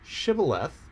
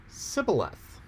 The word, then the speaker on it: shibboleth: their language so when they said shibboleth it came out sybileth so here you had